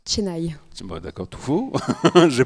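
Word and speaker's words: Chennai: Et dans la ville de Cheny, ça se dit Tenaï.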